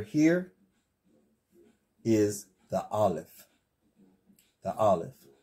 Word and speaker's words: Aleph: This letter here is the Aleph. The Aleph. Some say it has an A sound, but according to how I have been taught, the Aleph is silent.